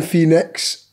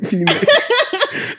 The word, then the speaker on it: Phoenix: Jow Quinn Phoenix, Tom Hanks, a Tom Cruise.